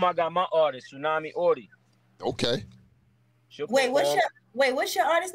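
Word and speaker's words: Auty: I got my artist, Tsunami Audie.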